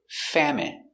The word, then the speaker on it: famine: Pronunciation famine. F a fa m fam. It famine famine. Famine. Stress on the first syllable.